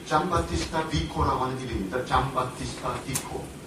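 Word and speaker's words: Giambattista: 요게 그러니까 잠바티스타. 이탈리아 말로 하면 그렇게 가는 겁니다. 잔 바티스타가 되는데 이탈리아 말에서도 잠조편이 있어요. 그러니까 잔 바티스타가 뒤에 나와서 잔 바티스타 이렇게 발음이 되어가지고 하는 건데요.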